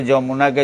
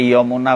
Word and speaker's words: যমুনা: অনেকে অনেক রকম করে অনেকে যমুনাকে যমুনা বলে অনেকে ইমুনা বলে ইমুনা এরকম অন্তস্থ জ উচ্চারণ অনেকে ইয় উচ্চারণ করে এইরকম অনেকে নির্দেশ দেয় না এটা ইয় উচ্চারণ করতে হবে অনেক গুরু আবার বলছেন